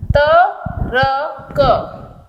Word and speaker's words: तर्क: उच्चारण में र जो है वो आधा हो जाएगा तर्क।